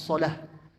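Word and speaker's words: صلاة: Jadi bacanya hayya 'alas shalah. Ya, shalah itu harus ada haknya yang sukun.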